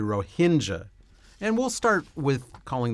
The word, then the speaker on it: Rohingya: household word in fact when I looked it up how to pronounce it I learned that in America they usually call them the Ranga but in country they call them the ROA Hinda and we'll start with